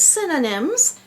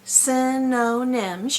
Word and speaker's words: synonyms: on the board here says synonyms has three syllables synonyms your jaw drops three times try not to confuse it with cinnamon which is a spice